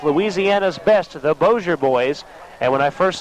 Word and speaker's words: Bossier: This gives us a chance to mention that we had been mispronouncing the name of the town the Louisiana All-Stars hail from. It's Bossier, and that's somewhere outside of Shreveport, Louisiana.